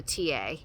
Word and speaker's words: TIE: And it's also known as the TA. So they call it here the TA card, but it's spelled TIE.